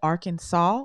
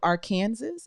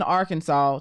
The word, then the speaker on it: Arkansas: and we we from arkansas you know why we call it arkansas instead of our kansas it was so many native american tribes like that that is a rule in arkansas to to show respect